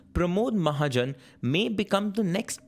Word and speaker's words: Pramod: Pramod rhymes with panache."